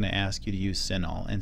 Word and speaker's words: CINAHL: someone is going to ask you to use senol and senol is spelled c i n AHL and that stands